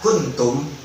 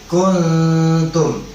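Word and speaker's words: كنتم: Nggak boleh ku-nya ditambahkan ada sedikit mad, walaupun cuma satu harokat, walaupun cuma setengah harokat. Nah, itu nggak boleh. Kuntum. Terus bacanya begitu. Terus bacanya gimana bang? Bacanya wajib langsung masuk ke dalam huruf nun matinya.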